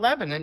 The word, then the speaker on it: Lebanon: It's Lebanon, by the way.